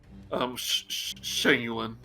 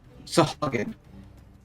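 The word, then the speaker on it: Sahuagin: Turn yet, because from the shadows, see another Shangulin. Sean Sayugan. Shangulin. I don't know how to pronounce it. Sahagin.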